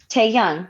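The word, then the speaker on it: 태형: Bias, I would say my bias would have to be Taeyoung, right?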